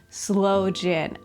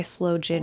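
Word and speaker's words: sloe gin: look up for myself why slow jin is spelled that way and why it's not sin. Oh, okay. So the blackthorn fruit is called slow s l o e. So it is slow jin as in blackthorn fruit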